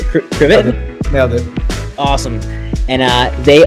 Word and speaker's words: Krivit: Is that pronunciation correct? Krivit?